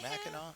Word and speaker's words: Mackinac: Mackinac? Is that how you say it? Mackinac? Yeah, Mackinac.